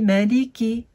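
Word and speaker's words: مَلِكِ: On va ni prolonger le mime, ni le lem, ni le kef. On va les dire à la suite avec chacune sa haraka.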